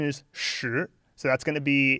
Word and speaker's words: 时: to fit together to make that so the pronunciation is sure so that's going to be in the childhood